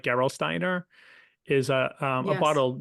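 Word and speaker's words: Gerolsteiner: people that are German speakers I might be mispronouncing but something like Geral Steiner is a a bottle of mineral water that's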